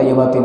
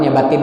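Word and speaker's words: يا باطن: Kosong bacanya. Jangan ya batin ya batin ya batin, enggak ada mau. Salah. Ya batin ya batin ya batin ya batin. Enggak ada mau. Ya bautin, makhrajnya pas.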